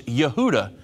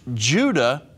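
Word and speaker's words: יהודה: His name was Yehuda. Well, Yehuda in Hebrew, it's going to be pronounced Judah in English.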